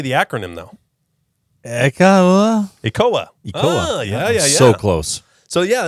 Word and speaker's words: ECOA: ECOA? ECOA. That's like Ebola.